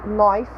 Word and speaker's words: knife: so on in English when K is followed by n in most cases we do not pronounce K ok so it's always silent so we say knife we say me we